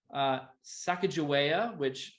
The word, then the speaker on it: Sacagawea: Jeannie Stifler, or Stifler's mom, Sacagawea, Sacagawea. I think I looked up the pronunciation earlier.